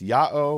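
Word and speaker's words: Ιαω: one instance which is Yota Alpha Omega the letters pronounced Yao which presumably is equivalent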